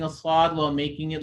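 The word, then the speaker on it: ص: people are pronouncing assad they make their mouth like a wow they're going to take their entire mouth and make it kind of like a wow they're going to make it round like like this fully round like a wow that's incorrect you're messing with the sound of the song swat is just so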